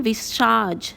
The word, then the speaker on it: visage: I have made it the sound of je. Je. The way we call it in measure. It is that way. So it is le visage.